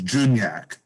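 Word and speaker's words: dwójniak: would look at it it looks like dwashniak but the best i can get from the polish from lesotho is juniak is the closest i can get to that pronunciation and that would be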